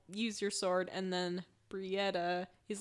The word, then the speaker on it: Brietta: Did I say her name wrong? You said the wrong sister. Brietta. Annika is the human one for now. Brianna? What did I even say? Brietta. You said Brietta, which is right.